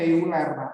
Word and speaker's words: Euler: Tulisannya Euler, tapi bacanya Euler gitu ya.